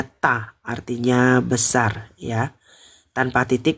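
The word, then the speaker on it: 大: Kalau nggak ada titik bacanya ta, artinya besar ya.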